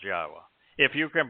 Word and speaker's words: Yahowah: Torah you can pronounce yahwah if you can pronounce the verb haa you can pronounce yahwah's name if you can say shalom you can say yahweh's name indeed because yahwa yada